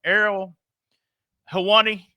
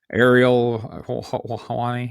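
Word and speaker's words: Ariel Helwani: This was all during I can't pronounce the dude's name. I'm not even going to try. Former UFC guy, Errol Hawani. Is that right? Yeah. That's close. Ariel Hawani.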